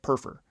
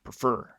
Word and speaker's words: prefer: prefer sugar and cream if the stress is on the first syllable it would be more like perfer perfer as opposed to prefer prefer yeah but again these